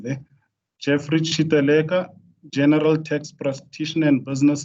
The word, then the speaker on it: Chiteleka: I'm Jeffrey Chiteleka. No, got my surname wrong there. Jeffrey Chiteleka, General Tax Practitioner and Business Accountant.